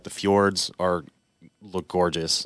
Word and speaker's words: fjord: And then the other thing I wanted to see, like the fjords look gorgeous.